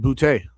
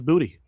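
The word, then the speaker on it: Boutte: It's him, Diggs, and uh and Bouty or Booty. I assume it's French. He went to LSU at I believe he's from Louisiana. It's probably actually pronounced bouty, but today he was Booty.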